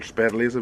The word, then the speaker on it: Spätlese: It's called Spätlese, which means late harvest.